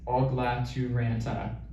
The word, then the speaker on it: Ogla Turanta: really long 5-syllable name, you can pronounce it any way you want, but the correct way is Ogla Turanta, like just as it sounds.